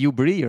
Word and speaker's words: Hubris: Or Hubris, if you are French. Hubris. You don't pronounce it. How much AD do you get, actually? That would be Ubri, right? They don't. Ubri. The French do not read the last one.